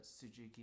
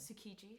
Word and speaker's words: Tsukiji: And then, as you can see, it's the Tsujuki Market, I believe. Is that how you say it? Tsukiji. Oh, Tsukiji.